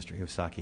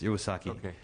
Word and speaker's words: Iwasaki: and i i believe i mispronounced your name strihosaki it's iwasaki and i want to